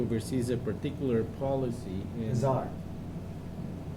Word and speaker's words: czar: in- Czar. That. The T is silent.